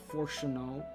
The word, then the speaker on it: Fortuno: Oh, when Master Fortuno, it's pronounced Fortuno, I believe.